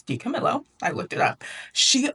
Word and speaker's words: DiCamillo: And yes, I'm pronouncing that correctly. Okay, I thought it was DiCamillo. It's DiCamillo.